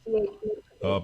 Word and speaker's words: Mirkovic: think the C at the end is pronounced with a CH sound. Mirkovic.